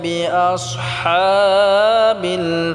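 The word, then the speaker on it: بِأَصْحَابِ: বিআস, বিআস সোয়াদটাকে আমরা মোটা করে উচ্চারণ করব। বিআস হা, হাটাকে আমরা গলায় চাপ দিয়ে উচ্চারণ করব। আলাম তারা কাইফা ফাআলা রাব্বুকা বিআসহাবিল ফিল।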